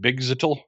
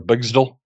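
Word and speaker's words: Bgztl: Phantom Girl is actually from an alternate dimension called, I pronounce it Bigzitl or Bigzdal.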